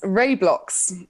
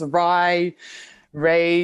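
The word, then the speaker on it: RaiBlocks: former name actually yes Ray blocks um people like to mispronounce it and all manners of terms awry Rey you know um but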